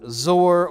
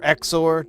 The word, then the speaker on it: XOR: The Zor or Exor, depending on how you want to pronounce it.